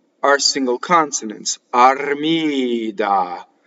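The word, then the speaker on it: Armida: And the accent is in the middle of the word, and it's on the penultimate syllable. It's on the second to last syllable. So it is Armìda.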